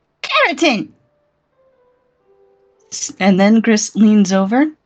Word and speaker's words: keratin: So it's care like you care about someone and it's and then a tin like a little piece of metal. Keratin. Keratin. Keratin.